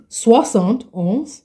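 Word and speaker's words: soixante-onze: sound this or 71 you are going to say Swant they make it easy 60 and 11 is equals to 71 ah they are smart French because if you do the mathematics it's actually 71 so Swant on in French is 71 right 80 would be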